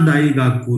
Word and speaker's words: daigaku: डमरू वाला ड नहीं है, दवाखाने वाला द है.